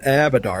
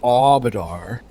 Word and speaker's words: Abadar: told his name is it's not abadar it's aadar oh okay least according to